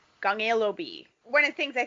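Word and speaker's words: 015B: there's two people but it's pronounced in korean so other than the b so it's like gong ilo b gangelo b one of the things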